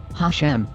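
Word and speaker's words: השם: have repeatedly discussed already in hebrew it is pronounced hashem which literally means the name but it was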